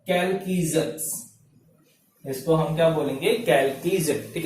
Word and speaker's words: Chalcogen: कैल्कीजन। ठीक है, प्रोनाउंसिएशन कैल्कीजन।